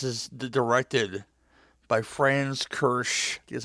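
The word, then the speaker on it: Kiersch: This is the directed by France Kersh. That's how you pronounce the last name.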